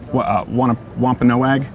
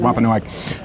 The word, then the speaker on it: Wampanoag: meal of Thanksgiving with the I think it's pronounced Wampanoag. Is that? Do you know? I want to make sure I'm getting that right. Wampanoag.